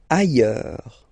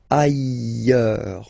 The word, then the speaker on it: ailleurs: Ailleurs. Look, final S not pronounced, and then you've got this y, y, y sound. Ailleurs.